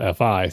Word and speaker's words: Fi: is spelled F-I, and I was pronouncing it Fee because that seems reasonable, but Lucy from the company that's spelled F-I tells us that it's pronounced like Fido or Wi-Fi, so it's Fi. Like Fee Fi Fo Fum, or F with the word I after it.